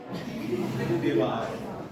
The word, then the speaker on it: Dewar: हाँ सर, ये डेबार होता है कि डेबार? दीवार। वैसे डेबार बोलते हैं, इंग्लिश में स्पेलिंग डेबार, ये DEWAR, ठीक है?